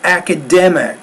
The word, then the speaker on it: academic: so on this one the stressed syllable is dim it's a second to the last syllable academic and you want to make that stress syllable clear louder longer and even higher pitched well above home week